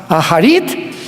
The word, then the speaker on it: Acharit: que son las palabras Aharit Shanek en el hebreo. Se escribe Acharit, A-C-H, tal como suena.